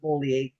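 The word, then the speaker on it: Beaulieu: I know it should be BU, but she pronounces it Bolier.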